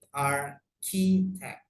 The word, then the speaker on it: architect: Kemudian, nah ini bacanya architect pakai K ya, jadi bukan pakai C, bukan arsitek, bukan arsitek, tapi architect.